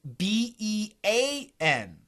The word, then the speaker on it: bean: B-E-A-N is a long E. E-E. It sounds like E. Bean.